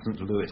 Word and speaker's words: St. Louis: I'm told it should be pronounced St. Louis, but never mind.